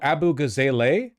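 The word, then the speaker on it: Abughazaleh: It's pronounced Abu Gaza. Oh, Abu Gazale. Abu Gazelle, is it? Oh, that's a little bit harder for me to say, but okay. Abu Gazelle.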